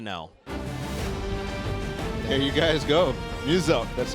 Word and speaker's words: Muselk: Muselk. So it's like Muse and Elk. Muselk. It's very easy, okay? Even I had to know. There you guys go. Muselk.